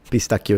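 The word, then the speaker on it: pistacchio: Well, I can see that because in ch usually ch in Spanish is a ch whereas in Italian is always a k sound. Pistakio is life.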